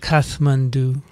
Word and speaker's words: Kathmandu: so recent now hey the nepali pronunciation yes kathmandu really yeah but th is they put the th so i was just being nepali i think we should